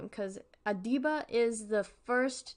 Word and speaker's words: Adiba: this person's name because I don't want to mispronounce it one moment adiba adiba that's how I figured it was pronounced